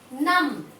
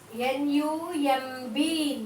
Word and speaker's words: numb: Numb. N-U-M-B. Numb. N-U-M-B. Numb. It's numb, children, not numb. It's numb. N-U-M-B. Numb. What is silent in this word? B. Underline the B.